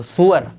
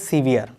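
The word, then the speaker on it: sewer: अगली वर्ब है आपकी सेवर, सीवियर, ये क्या पढ़ेंगे इसको, सुअर। इसके प्रोनाउंसिएशन भी यार डिक्शनरी में चेक करोगे सुअर है, SEWR, लेकिन आजकल मॉडर्न इंग्लिश में हम बोलते हैं सीवियर।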